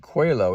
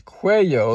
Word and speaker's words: cuello: I pronounced it cuello. It's cuello, like with a Y.